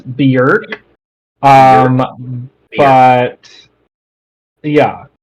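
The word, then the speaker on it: Björk: I think it's pron I looked it up apparently it's beer um but yeah like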